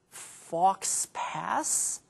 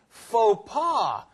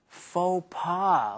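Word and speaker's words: faux pas: it was something like fox pass Oh you mean FAA and it's spelled f a x space p a s but it comes from French so it's pronounced a little differently FAA okay so does it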